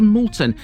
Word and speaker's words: Moulton: until last welcome to Molton and yes that is how to pronounce it because it derives from the word mule this was literally a